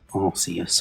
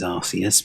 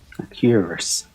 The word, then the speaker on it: Arceus: I think it says Arceus, but maybe people might not like that one. Arceus, I've heard it referred to as sometimes, but that's not how it's pronounced.